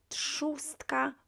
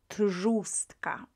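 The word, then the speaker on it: trzustka: after t uh will be pronounced as uh pronounced as s so we uh we have chostka rather than trustka right feminine noun now the first neuter noun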